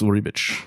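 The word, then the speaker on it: Ribić: esad Rick's like rib how do you say it again it's ribbit ribbit yeah esad rib uh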